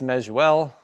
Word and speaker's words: Mezeul: It's Measuel, exactly how it doesn't look.